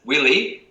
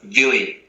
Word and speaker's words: Willie: name pronounced correctly so everyone sees it as willie but being from south africa we pronounce it with a v don't we so it's villi that's correct that's correct